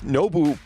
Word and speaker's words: Nobu: And it's so hard because it's Nobu, but like the U is like an O and a U together.